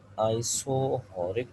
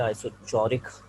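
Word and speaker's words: isochoric: आइसोबैरिक process, आइसोहॉरिक process, इसमें सी silent है, इसलिए आपको सुनने में ज़रा अजीब सा वर्ड लग रहा होगा। आइसोहॉरिक, इसमें अक्सर लोग सी को साइलेंट करके सी को साइलेंट नहीं करते, आइसोचौरिक करके पढ़ते हैं। तो आइसोचौरिक नहीं, आइसोहॉरिक इसका सही है।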